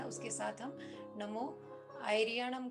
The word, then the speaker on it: णमो: अब हम नियमों आ णमो आयरियाणं ॐ का जप करेंगे तौर पर इस बात का ध्यान रखेंगे अगर आप बोल रहे हैं तो नमो नहीं बोलना ण वह बोलना है कि शुद्ध उच्चारण के